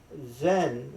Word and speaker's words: Zen: Zen, which just a Japanese pronunciation of the Indian word jhana, means meditation.